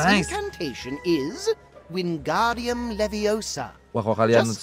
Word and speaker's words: Wingardium Leviosa: Wingardium Leviosa. Leviosa. Remember, make the gar nice and long.